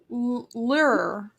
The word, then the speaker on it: lure: a Le a Lear like the musical instrument lure lur it's pronounced lur isn't it did I pronounce